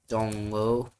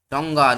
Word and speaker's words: Tonga: Tongo, that is not Tongo apparently. Tonga, not Tongo. Why am I saying Tongo? It is Tonga.